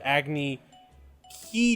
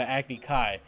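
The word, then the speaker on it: Agni Kai: oh he went to an agony key duel instead of a acne kai they pronounced that wrong too wrong yeah so they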